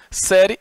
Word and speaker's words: série: Série é uma palavra é uma palavra paroxítona terminada em ditongo. Paroxítona, porque tem a penúltima sílaba tônica e terminada em ditongo. Então está aqui, sé é a sílaba tônica, irie e constitui ditongo.